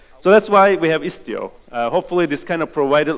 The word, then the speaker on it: Istio: I don't know why open source people are obsessed with Greek words, but the good news is that it's not mispronounced. It's actually Istio in Greek as well.